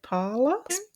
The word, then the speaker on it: Pahler: Elise Pala, if that's how you say it. Para P A Hilia. Yeah. Parlor. Elise Parlor was a 15-year-old